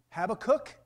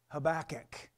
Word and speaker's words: Habakkuk: that habakkuk 3 2 some people pronounce him have a cook other pronounce them habakkuk anyway chapter 3 verse